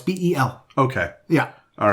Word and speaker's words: Bel: Bel is an interesting pronunciation. That's Bhaal. No, it's Bel.